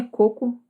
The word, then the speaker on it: coco: Enfim, uma é coco, a outra é cocô.